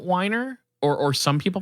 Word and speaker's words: Weiner: weiner oh okay but whenever I watched videos online they pronounced it whiner or or some people